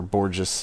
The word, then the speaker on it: Borges: Okay, Borges. The great Borges, or Borges, if you want to use the Anglo pronunciation.